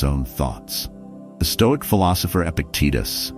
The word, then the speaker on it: Epictetus: The Stoic philosopher Epictetus, often mispronounced as Epictetor, once said, "It's not things that disturb us, but our judgment about things."